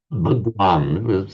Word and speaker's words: Bhagwan: sometimes referred to as Bhagwan this that same word that that's the modern Hindi pronunciation behavan in Sanskrit Bhagwan